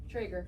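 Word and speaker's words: Traeger: Trager.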